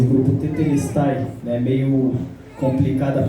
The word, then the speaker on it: tetelestai: senhor colocou na minha responsabilidade somos o grupo tetelestai né meio complicada a pronúncia mas o significado é Está Consumado né